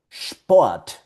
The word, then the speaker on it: Sport: Por ejemplo, cuando tú veas la combinación de consonantes SP o ST, esto va a producir un sonido de sh.